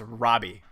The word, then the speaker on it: Roby: And apparently I was pronouncing this town name wrong. It's Robbie.